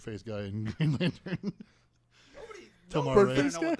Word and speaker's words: Tomar-Re: Anyways, Sorry, Tomar-Re is how you say that guy's name. Tomar-Re.